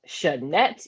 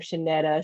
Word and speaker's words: Shanette: If you look at it, it's literally sh and net, Shanette. But people always get some convoluted pronunciation of my name, Shanetta, Shanetti, Shanae, Oh, I like Shaniqua, Shanette.